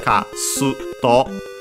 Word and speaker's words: Kasuto: and then its name kasuto uh technically uh the pronunci Uh the pronunciation should be kto uh with the uh barely uh heard if at all because it's between a voice consonants and then uh well